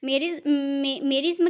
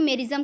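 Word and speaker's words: merism: मेरिज्म कह लीजिए या फिर मेरिज्म कह लीजिए, दोनों ही प्रोनाउंसिएशन किए जाते हैं, बट नॉर्मली सब मेरिज्म ही बोलते हैं, लेकिन मेरिज्म भी बोला जाता है।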